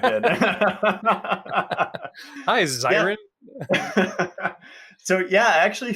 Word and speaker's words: Xiren: Yeah, well, almost no one pronounces the X like an S or a C, but it's an Irish name. My dad is a Dolphins Barn Dubliner, so it's an Irish name with a bit of a creative spelling, and the original Latin X as an S, so Xiren.